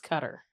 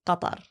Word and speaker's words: Qatar: How do you say it? Because I've been saying Qatar this whole time and somebody goes, "It's cutter." Well, in Arabic, it's Qatar.